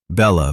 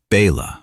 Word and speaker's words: Bella: Eleanor deliberately mispronounced my name. Bella became Baya, or sometimes just Marcus's wife.